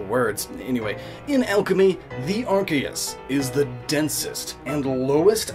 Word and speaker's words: Archeus: Anyway, in alchemy, the Arceus, which granted is spelled differently, though pronounced the same. Other Pokemon names do the same, just misspell words. Anyway, in alchemy, the Arceus is the densest and